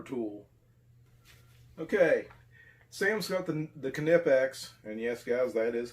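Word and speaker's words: Knipex: has a similar tool okay Sam something the canoe pecks and yes guys that is how that's pronounced he's got the kinetics Cobras I have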